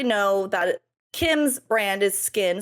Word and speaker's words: SKKN: Beauty Cosmetics has used the brand name Skin, spelled SKKN, so the same way that Kim's does, plus since 2018. Now we obviously know that Kim's brand is Skin, spelled the same way, and Skin by Kim.